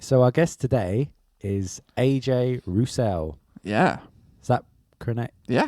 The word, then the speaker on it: AJ Rousell: yeah good right so our guest today is AJ Russell yeah is that connect yeah correct pronunciation yes you messed up saying correct pronunciation